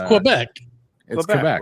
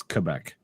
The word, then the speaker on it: Quebec: this like a it's Quebec que right Quebec yeah see we pronounce the U no you don't molson's saying it more like a k see he says yeah